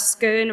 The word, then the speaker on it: scone: It also adds to the argument that scone rhyming with stone is the right way of pronouncing it.